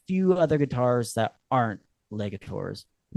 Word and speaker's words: Legator: Is it the the getter the garter guitars? Uh, it's uh, Legator.